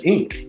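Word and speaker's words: Inque: I don't know that I don't how to pronounced that oh that's Inc in Inc yep because Batman Beyond uh Inc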